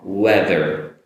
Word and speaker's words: weather: Now the last letter is an R. Now you have to make the and hold the R sound, Notice my lower lip is touching my upper teeth.